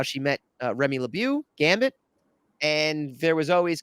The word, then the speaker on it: LeBeau: in between for the people at home it's LeBeau for the people at home but okay um French pronounce it but all right go ahead that's